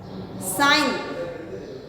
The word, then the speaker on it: sign: Sign, G silent.